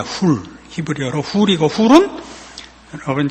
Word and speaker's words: Hur: 벤허는 영어 발음으로 허가 됐지, HUR로 표기된 허는 훌입니다. 훌.